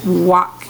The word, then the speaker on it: walk: Walk. You don't hear the L. It's silent. Walk.